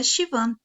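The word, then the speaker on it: Siobhan: Nota, o nome se pronuncia Shivan, mais ou menos.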